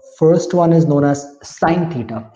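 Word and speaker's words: sine: The first one is known as साइन theta, इसको sin pronounce नहीं करेंगे, साइन pronounce करेंगे, तो साइन थीटा हो गया।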